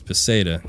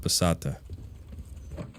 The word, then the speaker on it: peseta: Okay, so it's Peseta, not Pesata.